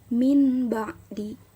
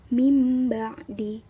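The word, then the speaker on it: مِنْ بَعْدِ: ada di sebelah kiri Jadi dibacanya bukan Min ba'di tapi mimba'di diubah menjadi mim sukun dan ditahan dua harokat Cukup sekian materi yang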